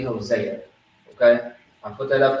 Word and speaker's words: Hosea: in the actual bible see some people spell it like this hoshea or jose it's really hosea okay i put that